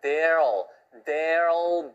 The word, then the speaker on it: there'll: 근데 there will be. 발음이 힘들어요. 그래서 들리는 발음은 there'll be. 그래서 will 발음이 앞에 there하고 합해가지고 there will 이렇게 안 되고요. there'll 이렇게 들려요.